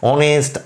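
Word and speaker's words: honest: তার আগে এ বসে কিন্তু এই এইচ এর উচ্চারণটা তো আসছে না আসছে অনেস্ট এইচ ও ইউ R hour এইরকম ধরন ভাওয়েল সাউন্ড আসছে এইচ এর সাউন্ডটা আসছে না সেইজন্য কনসোনেন্ট থাকা সত্ত্বেও অনেস্ট আওয়ার অনার এই সমস্তগুলোর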